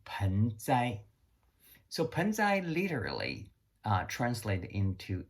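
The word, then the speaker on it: 盆栽: Japanese refer to as bonsai. Bonsai basically are two Chinese characters exactly the same as the Chinese who pronounce as penzai.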